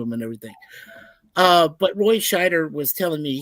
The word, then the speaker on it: Scheider: But Roy Scheider was telling me, he was like, Schneider. I'm saying his last name wrong.